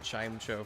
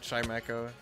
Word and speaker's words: Chimecho: Hey, I have zero hatred for people who pronounce it the other way, because I know that the other way is like the generally accepted way. I say Chimecho because it's funny.